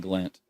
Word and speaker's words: Siglent: So, and I'm saying Siglent, Dan. I might be pronouncing that wrong. Siglent. Yep, Siglent.